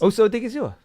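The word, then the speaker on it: Osa Odighizuwa: I mean, Osa, how do you pronounce? Osa Odigizua.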